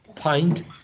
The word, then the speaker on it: pint: this one alright so mint pint lint stint all of them have a short lacks a mint lint stint but pint okay any other questions